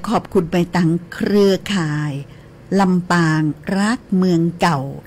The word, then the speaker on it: รัก: มา จาก กรรม ว่า รักษา หรือ อ่า ถนอม ไว้ นะ เจ้า เก็บ ไว้ นะ เจ้า เน้อ อ่า แล้ว ก็ ออก เสียง รัก บ่ ได้ มัน ก็ ตึง ฮัก แต่ นะ ลำปาง รัก เมือง